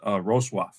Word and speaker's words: Wrocław: It's spelled W-R-O-C-L-A-W, but it's pronounced Wrocław. Wrocław, depending on who you talk to.